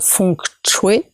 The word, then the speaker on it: feng shui: unis aujourd'hui en asie le feng-shui donc on prononce font que jouer est entré dans le